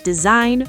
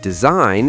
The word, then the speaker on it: design: Sign, design, foreign, campaign. The G is silent. So sign is just sign and design is design and foreign is for in Wait, I definitely pronounce foreign wrong. Then I've been saying for a lot of people do the correct pronunciation is foreign. Two syllables and that G is completely silent.